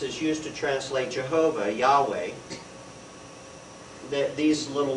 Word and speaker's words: Yahweh: used to translate Jehovah Yahweh that these little letters there that's Hebrew by the way is your first lesson of Hebrew which is Yahweh or Jehovah it's actually Yahweh and and if you